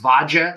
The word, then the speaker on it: Vadia: that in Russian Ukrainian I'm not sure pronounced vaja spelled VA a d a there's no J in